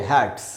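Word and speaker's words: hats: तो जैसे हैट जो पहनते हैं सिर पे, उसमें एस लगाया तो इसको पढ़ेंगे हैट्स।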